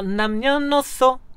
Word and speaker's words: 남녀노소: 그래서 어 남녀노소 그리고 노소를 1등감을 살리기 위해서 뒤에 있는 시옷을 노 밑으로 복사를 해와가지고 남녀노소 이렇게 오케이. 중철 발음을 넣었습니다.